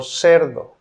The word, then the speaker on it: cerdo: Letter C is pronounced as a S in cielo. Cielo. Cielo. Cielo means sky, or cerdo.